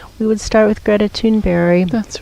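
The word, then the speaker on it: Thunberg: stepping off and we would start with Greta tune very that's right and he some people pronounce her name Sundberg but if I which is how it looks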